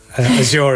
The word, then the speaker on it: Azure: Does it run on Azure? I use the American pronunciation, Azure, as I would say.